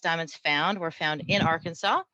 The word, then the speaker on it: Arkansas: The next up is Suzanne Peterson from Arkansas. Hello, everybody. So interesting facts about Arkansas. It is illegal to mispronounce Arkansas inside the state, so no Arkansas when you're here, people.